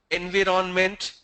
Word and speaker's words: environment: It's not environment. Please correct the pronunciation. If anybody says environment, it just... No, it's not environ. It's environment. Environment. Exactly. It's environment, not environment.